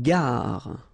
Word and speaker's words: gare: Une gare. Okay, remember when you get these G and A together, the sound is g, ga, ga. Une gare, final E not pronounced.